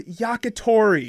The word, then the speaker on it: yakitori: all the syllables in different orders. No. Grilled skewered chicken in Japan is yakitori.